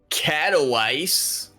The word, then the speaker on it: Katowice: Katowice. Yep. Correct and pronunciation.